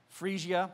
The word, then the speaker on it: Phrygia: Phrygia, thank you.